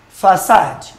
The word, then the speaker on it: facade: Facade. Facade. F-A-C-A-D-E. It's pronounced facade.